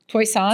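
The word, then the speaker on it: Toisan: It's called Toyisan. Toyson in southern China.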